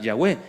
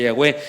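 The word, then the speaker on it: Yahweh: cómo sonaban las palabras alguien se alcanzó la puntada de que sonaba Jehová por las vocales que le puso Pero después descubrió que eran otras y en realidad suena yahwe es muy probable que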